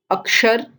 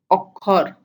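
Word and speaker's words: অক্ষর: So the sh becomes k, like Akshar, Okhor, Akshay, Okhoy. Okay.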